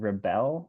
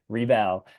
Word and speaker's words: Rebelle: Yeah, it's a REBELLE, like like Okay, a Belle and Beauty and the Beast, but if you right. had to do it again, Rebelle.